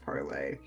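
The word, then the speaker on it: parley: familiar with the term yeah way it is pronounced parlay you don't pronounce the r par say in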